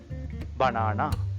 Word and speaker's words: banana: the first one banana how to pronounce it bana banana letter A always aound always aound in English language